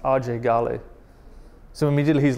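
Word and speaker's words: Ajay Ghale: So just his name, AJ Gale, gets him in trouble. Even to the point that his whole life he's called himself AJ Gale, right? But his name is actually pronounced RJ Gale.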